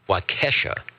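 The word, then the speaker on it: Waukesha: why keisha all right thanks john w-a-u-k-e-s-h-a the uh beautiful lake waikisha rakesha as in cats or is it wakasha okay he's there he's trying to give me the pronunciation guide they actually have that's an nbc pronunciation guide okay let me see if i got this right wakesha all right thanks we'll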